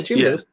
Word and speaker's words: Jamin Davis: Is that how you pronounce it? Yeah, Jamin Davis.